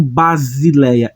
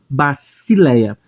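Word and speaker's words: βασιλεία: que é o s o Sigma ele vai ter um som de s nunca como Z então eu não vou pronunciar como Basileia é baci Se bacileia temos o iota que é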